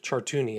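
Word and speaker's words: Chartouni: My name is Chartuni and I'm a victim of Jeffrey Epstein and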